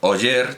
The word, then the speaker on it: Oller: el novelista narcís oller porque oye es la manera de pronunciar es una transcripción una transcripción fiel a la manera de pronunciarlo en barcelona con la erre muda y narciso oier tiene esa r aunque en catalán naturalmente se pronuncie sin ella bueno pues cuando el